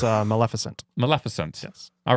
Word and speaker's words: Maleficent: uh this is the Disney movie is it pronounced Malificent starring Angelina Jolie it's a Maleficent Maleficent yes all right Maleficent I had a